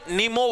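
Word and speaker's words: न्यूमो: भाई इस वायरस का नाम है एचएम पीवी भाई ह्यूमन मेटा नीमो वायरस भाई ह्यूमन मेटा नीमो वायरस ये पी आपका साइलेंट होता है इसके अंदर ये क्या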